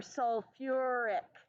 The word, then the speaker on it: sulfuric: because it's a sulfate sulfic acid but that would be wrong with sulfur you need to have an ER in there sulfuric acid sulfur and phosphorus need the extra syllable isn't that fantastic I